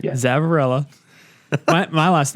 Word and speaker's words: Zavarella: Zavarella.